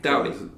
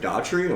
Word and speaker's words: Doughty: Doughty. Doughty's close enough. Okay. I get people that'll go Daughtry, and there's not an R.